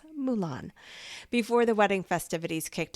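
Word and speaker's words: Moulin: called Mulan, which is spelled M O U L I N, but we think is pronounced just like the princess, Mulan.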